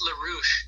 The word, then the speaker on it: LaRouche: Oh, it's just LaRouche. I think the E is silent. It's just French.